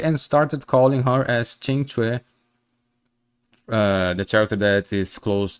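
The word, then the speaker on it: Qingque: Kinke as Kinke and started calling her as Chingchue, the character that is close to Fushuan.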